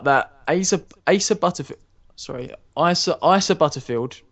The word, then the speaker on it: Asa: ASA ASA butterf sorry Isa Isa Butterfield PR is spelled like ASA it's weird but it's Isa Isa Butterfield um has been announced